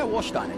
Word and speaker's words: Warsteiner: Here's the Warsteiner. And Castrol. Is that how you say it? Yeah, Warsteiner, yeah.